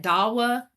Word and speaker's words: DAWA: And I guess you pronounced that DAWA. Is that DAWA? DAWA. Yeah, DAWA.